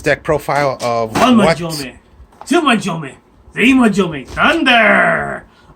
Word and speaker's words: Manjome: In the anime, Japanese, his name was, if I remember right, Manjome, which is supposed to rhyme with thunder or sound like that.